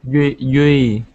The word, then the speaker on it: Yui: Dewey? Yui. Yui? Yes. Okay. So the D is pronounced kind of like we pronounce the Y.